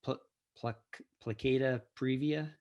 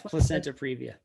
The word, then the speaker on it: placenta previa: question is is and i'm probably going to mispronounce this what i think you said is plicata previa yeah so she's laughing yeah placenta previously yes placenta previa the placenta of the baby is lying a